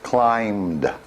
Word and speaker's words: climbed: not climbed but just climbed so this is the B is silent in this so what about this